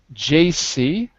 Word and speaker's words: JC: quick note on pronunciation jc repeat j c right so it's j that's not a that's not a g i heard a g it's a jc right right jc offers